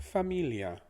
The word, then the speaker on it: familia: is familia family familia the if we're using our typical english sounds the word familia would be pronounced fa as in father the fa from father's fa the mi becomes me as in me like give that to me so where me the li becomes lee like the name lee like